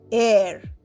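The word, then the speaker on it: heir: সে একজন সৎ মানুষ এর এইচ ই আই আর এর কিন্তু এইচ সাইলেন্ট এইচই আই আর এর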